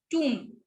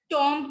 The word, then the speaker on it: tomb: टूम, ठीक है, टॉम्ब नहीं होता ये, टूम होता है ये. और म पे हम अपनी प्रोनाउंसिएशन जो है वो एंड करेंगे, ब नहीं बोलेंगे. तो ब जो है, ये